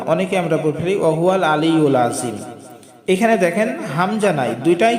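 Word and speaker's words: العظيم: হল আমরা হামজা বলব না অনেকে আমরা আলি আজম এখানে দেখেন হামজা নাই দুইটাই কিন্তু আইন আর আইনের উচ্চারণ হলকের মধ্যখান থেকে উচ্চারিত হবে চাপ দিয়ে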